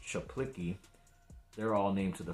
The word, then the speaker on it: Zaplicki: It looks like C. Zaplicki, but I think it's pronounced Chaplicki.